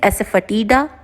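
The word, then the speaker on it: asafoetida: यूज टू पुट हींग, हींग इज एसेफटीडा, फटीडा, ये इसका प्रोनाउंसिएशन होगा।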